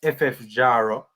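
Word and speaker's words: FF Jaro: if I'm not mistaken I did look up the pronunciation so it's ffjaro and they play in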